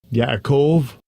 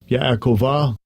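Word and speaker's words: יעקב: Yakov Yakov. Come on man. Look Strong's H 3291. Yakova. Yakova. Yakov. Right. So this is technically the name of Jacob. Yakov.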